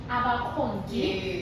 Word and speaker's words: Abakongi: I know that you have a song called Abakongi. Yes. Did I pronounce it correctly? Yes, correct.